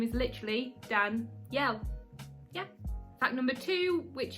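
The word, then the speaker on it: Danyel: so fact number one my name is actually dan yell now it's not spelt the way that everyone else spells the name danielle my name is spelt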